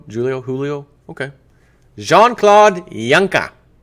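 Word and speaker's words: Juncker: Joe it's not pronounced junk J Claud junker it's junker with the J becomes a y kind of like Julio Julio Julio okay jeanclaude Yanka like Yan Yankovic maybe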